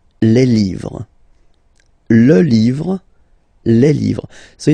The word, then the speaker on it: livres: Les, and then same rule, you just write livre, and then you put S at the end, but then you don't pronounce it. Les livres, le livre, les livres.